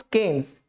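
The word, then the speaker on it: Keynes: Macro economics in its modern form is thought to have originated from John mannered केन्स, pronounced केन्स, एंड इन हिज 1936 the book general theory of employment, interest and money.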